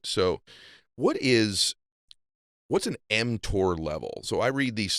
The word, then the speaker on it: mTOR: what's an mtor level am i pronouncing that wrong you can correct me but i know that it's important because it's stuff that i heard you talk about before yeah you're pronouncing it correctly it's called mtor okay m stands for